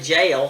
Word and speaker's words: jail: Take gel and jail. We sometimes tend to say jail for both, when it should be gel for G-E-L and jail for J-A-I-L.